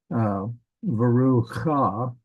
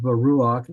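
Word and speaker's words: וְרוּחַ: So we say ruach, it's not verucha. If it was moved over a little bit, we'd say that. But because it's under this right leg of the het, that's the furtive patak. So we pronounce that patak first. So veruach and the spirit of Elohim, God.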